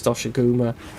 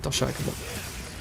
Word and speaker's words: Doshaguma: I think you face Doshiguma. Is it Doshiguma or Dogashuma? I think it's Doshiguma before this. Or Doshaguma, I think that's how they pronounce it, Doshaguma.